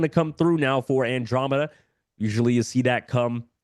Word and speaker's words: Andromeda: and by the way it is uh Andromeda not andom just a mispronunciation on my part so apologies for that